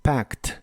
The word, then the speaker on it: packed: español en inglés es packed la a se pronuncia como una combinación del sonido e y el sonido a y la Ed del final se pronuncia como una t Así que es pct